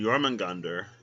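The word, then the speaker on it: Jörmungandr: and jormungander are the same in norse mythology yorman gander an old old norse roman gander pronounced jormungandr meaning huge monster also known as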